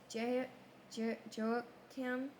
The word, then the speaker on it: Jehoiakim: How to pronounce Nico. I was right. Okay, never mind. Verse 36. Jehoiakim was 25 years old when he became king, and he reigned 11 years in Jerusalem.